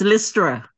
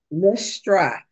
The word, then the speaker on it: Lystra: Lystra? Yes, that's me. Did I say it right? Yes, Lystra. Lystra.